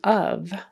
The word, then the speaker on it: of: talk about the preposition of o f it's spelled with an F on the end but we pronounce it with a V sound so of it could